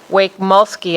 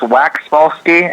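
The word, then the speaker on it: Waxmulsky: I believe it is Wake-Mulsky. Did I pronounce that correctly? It is Wax-Mulsky, and you are completely forgiven.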